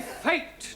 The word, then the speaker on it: fate: give you some examples let us take the word f a t now that has a flat a sound a good but if we had an e to the end of fat then what do we have fatty no Giovani fate now does anybody know